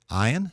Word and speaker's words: Ayin: Ayin is a guttural letter historically, but it's not something that has its own pronunciation. It's typically treated as a silent letter.